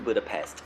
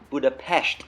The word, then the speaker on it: Budapest: in this episode the river Danube flows through Budapest you know that the further that work yeah